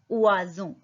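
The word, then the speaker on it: oiseau: Bird को बोलते हैं उआजो. ओ आई उआ. एस का साउंड ज और ई ए यू का साउंड ओ. उआजो.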